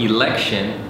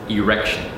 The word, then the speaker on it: election: For example, you wouldn't want to mispronounce the word election as erection.